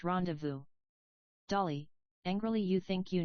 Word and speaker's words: rendezvous: Dreamily, so we rendezvous, rhyming with booze. Gladys, if you spent more time on your French, and less time staring at peplums, you'd know it's pronounced rendezvous.